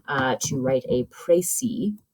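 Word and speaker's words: précis: uh to write a prey it's pronounced pry it's a French word um which is a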